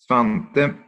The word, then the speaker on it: Svante: Svante, it's an E at the end, even if you don't pronounce it. We do.